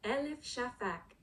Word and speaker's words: Elif Shafak: Elif Shafak Elif Shafak Elif Shafak Elif Shafak.